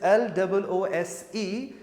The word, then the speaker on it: lose: This is lose with Z sound but that's loose. That's s sound.